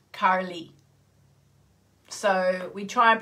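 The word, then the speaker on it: Kali: so um you know in english we would say carly the goddess carly wouldn't we if you've got an australian accent goddess carly um but in sanskrit it's the goddess karli so we try and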